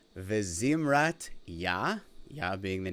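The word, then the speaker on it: וזמרת: So, to pronounce these, it's Ozi v'zimrat Yah, Yah being the name of God, Vayehi li lishua.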